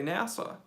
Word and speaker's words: NASA: all yep we say scuba and we say NASA the CIA probably does have an e very